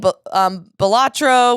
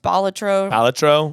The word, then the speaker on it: Balatro: I'm playing Balatro, which is apparently not how it's pronounced. Balatro.